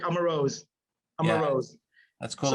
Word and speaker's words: Amarose: And how do you pronounce it? Amarose? That's correct. Amarose.